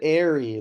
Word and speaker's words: Aerie: Who said airy?